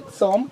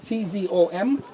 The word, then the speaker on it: tzom: In Hebrew, it's actually tzom, T-Z-O-M, and this is to abstain from drinking water. Okay. Any liquid. Water. Spell it Okay. again. T-Z-O-M. T-Z. Because you don't have th sound in English, it's T-Z.